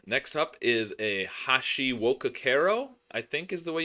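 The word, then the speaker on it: Hashiwokakero: All right, next up is a Hashi wokakero, I think is the way you pronounce that.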